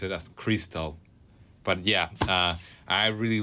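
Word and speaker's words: Xtal: by Charlotte Gainsburg and before that you listen Crystal by FX Twin. FX Twin. I mean it's funny because it is type as XAL but supposedly you have to pronounce it as Crystal.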